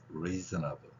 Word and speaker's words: reasonable: 강한 발음은 여기에 있습니다. 그래서 reasonable 여기를 세게 지금 발음하고 있는 거예요.